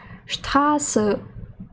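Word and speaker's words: Straße: І літера Sz читається як подвійне с, наприклад, штрас фус з бухштабм, тобто буквами розібралися.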